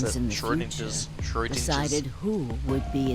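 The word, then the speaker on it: Schrödinger: Your Oh, that's how you pronounce actions it. in the Schrodinger's. future decided who would be inside the armor in the past. I've always pronounced it Schrodinger.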